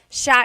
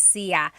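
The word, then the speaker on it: siya: It's sha sha. The si y combination makes that sha sound. It looks like it should be pronounced sia. There are some regions in the Philippines, I believe, that say sia, but usually in the central Luzon area, it's pronounced sha sha.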